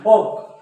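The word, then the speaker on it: folk: वॉल्क नाही वॉक आणि फॉल्क नाही फोक फोक फोक म्हणजे काय लोक लोकांचे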